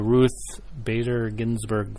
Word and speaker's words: Ruth Bader Ginsburg: the Ruth Bader Ginsburg film.